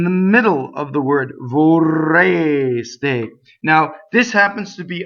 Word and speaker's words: vorreste: So this R rolls, obviously, because it's doubles.